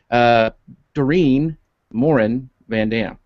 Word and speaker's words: Dorien Morin-van: Dorien Morin-van.